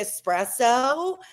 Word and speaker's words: espresso: you love Sabrina Carpenter for teaching people how to say espresso I mean there's no EX she finally got it